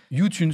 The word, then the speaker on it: YouTunes: vois on m'avait dit tu dis à la française comme youtube mais youune et tu dis le S à la fin ah ouais mais ils